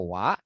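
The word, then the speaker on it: は: Tapi yang ini itu bukan hiragana yang dibaca sebagai huruf H ya. Kita bacanya sebagai artikel wa begitu.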